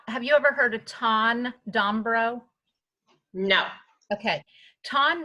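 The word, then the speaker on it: Thanh: is spelled than1 with a T so it's pronounced ton but it's th a NH look up his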